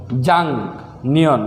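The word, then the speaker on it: 작년: থাকলে গিয়োগের উচ্চারণ ইয়ং হয়ে যাবে তাহলে সঠিক উচ্চারণ হবে জাং নিয়ন গত বছর জাং নিয়ন গত বছর নেয়ন আগামী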